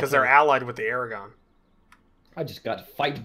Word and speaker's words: Aragon: their allied with the Aragon I just got a fight good idea for a fight place good yeah they're gone Aragorn I I can miss like I say what a minute Aragon it is Erica okay good don't